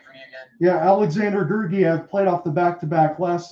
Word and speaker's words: Georgiev: I'm sorry, John, can you pronounce his name for me again? Yeah, Alexander Georgiev played off the back-to-back last night with the Blackhawks.